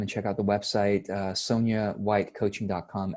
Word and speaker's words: Sonyan: n ÿ åý ñ even though it's pronounced Sonya okay so so there's an end at the end so for those who